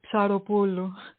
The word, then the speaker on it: Psaropoulou: But actually, PS is one letter in Greek. It's it looks like a tripod, and it's pronounced psi. Okay. So yeah, so it's Psaropoulou.